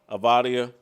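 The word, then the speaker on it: Avdija: Then on the white team, I can't pronounce this. Dini Avdia. Avdia.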